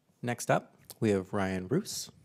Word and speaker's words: Roose: Next up, we have Ryan Roos, pronounced like goose, but with an R, as he told me.